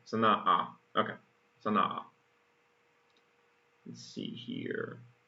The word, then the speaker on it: Sana'a: But, gotta remember the pronunciation. Sana'a.